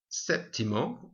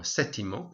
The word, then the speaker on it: séptimo: Séptimo, or sétimo, so you can be spelled with a P or not.